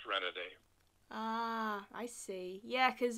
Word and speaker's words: Renaday: It's pronounced pretty much the way I spell the professional name, Renaday. Ah. Originally, it would have been Renaday, but nobody says that. Even in Louisiana, they don't pronounce it with that heavier French accent.